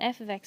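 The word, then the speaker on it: f(x): with f ofx therefore it's a function and F ofx is simply a notation to designate a function and it is pronounced F ofx the F names the function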